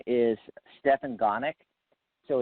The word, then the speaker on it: Gonick: Okay, and his name is Stefan Gonick. So his last name it's spelled like Go Nick.